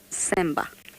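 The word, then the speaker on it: Tsemba: December which means trust starts with the T you just don't pronounce the T semba and sutu you can't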